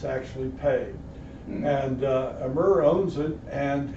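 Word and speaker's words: Peay: is that it's owned by a guy named amir pay and some people pronounce it p but it's actually pay and emer owns it and he's a descendant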